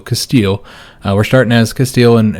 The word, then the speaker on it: Castile: sound uh but yeah i know everybody hates when i say castille so castile we're starting as castile